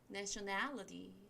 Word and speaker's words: nationality: T 발음이 좀 약화돼서 nationality, nationality 하시면 이게 국적입니다.